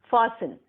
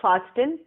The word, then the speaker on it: fasten: Next word, F-A-S-T-E-N, fasten. It's not fasten, T is silent, it's fasten.